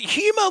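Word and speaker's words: Houma: is it is it Huma Louisiana is is the O silent so it's Huma Louisiana H hom like so the U is silent like Oklahoma yeah hom yeah H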